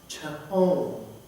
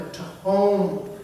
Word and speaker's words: tehom: And in the Hebrew language, the word that is translated here is the word tehom. Transliterated from Hebrew to English, it's spelled T-E-H-O-M, tehom.